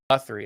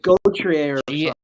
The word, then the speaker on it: Gauthier: Cutter I think it's Guthrie. I think is how it's pronounced. But it's Oh, it's Gauthier. or Gauthier. Way.